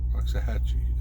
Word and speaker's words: Waxahachie: down in in waxahachie roxahatchee is how you say waxahachie texas which is uh